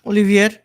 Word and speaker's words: Olivier: Olivier.